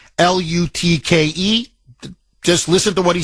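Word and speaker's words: Lütke: He came out, Toby Lutke, I believe is how you pronounce his last name, Lutke.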